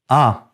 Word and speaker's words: un: Un is pronounced as un by most French speakers in France, including Paris, but not in Canada. You hear a distinct sound in Canada.